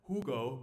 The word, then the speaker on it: Hugo: of the main characters Hugo I should pronounce it in German Hugo Gutman who later became